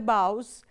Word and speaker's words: boughs: No time to stand beneath the boughs and stare as long as sheep and cows. Okay? So here it is a pair of lines and then it rhymes. Boughs rhymes with the word cows.